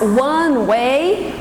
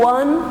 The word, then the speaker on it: one: Mas one way é mão única, ok? Eu percebo que muitos brasileiros não pronunciam o one corretamente.